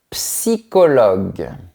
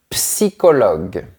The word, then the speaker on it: psychologue: Un psychologue. On prononce bien la lettre P qui est au début du mot. Un psychologue, un électricien.